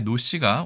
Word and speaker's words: 노: 뜻이 있는데 사실 성씨에는이 노드 날 로자가 전혀 작용하진 않았겠죠 대신 예전에 산동지역을 중심으로 한 루나라의 지역과는 크게 관련이 있을 것입니다 어쨌든 이것은 no라고도 읽고 원래 발음은 로입니다 자 총 15획이고 물고기